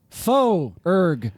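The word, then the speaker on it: Foerg: just my full name my last name is spelled f o e r g that's important faux urg and this will be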